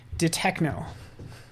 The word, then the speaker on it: Detekno: go that's how you that's how you're supposed to say it detekno ah ah I do